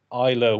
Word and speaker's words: Islay: it right it was innocent gun uh their Isa whiskey Cask which is not pronounced islay as I found out to my oh yeah